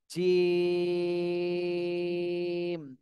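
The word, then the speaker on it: جيم: এর আগে আমরা এই যে হাঁটা পড়েছি নরম, আর জিম এটা কিন্তু শক্ত, শক্ত হরফ, শক্ত করে বলতে হবে। জিম, তিন আলিফ টান দিতে হবে এবং এটা শক্ত করে উচ্চারণ করতে হবে।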